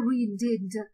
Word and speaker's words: read: I readed. Я читав. Read – це неправильне дієслово. Отже, воно в минулому часі буде мати форму, так само пишеться, але вимовляється read.